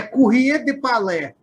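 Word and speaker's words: Courrier du Palais: Acho que para mim é Palais, eu não sei falar francês. A pronúncia correta é Courrier de Palais. Courrier de Palais.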